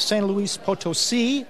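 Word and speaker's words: San Luis Potosí: It'll take place in the central Mexican town of San Luis Potosi. I pronounced that correctly, by the way.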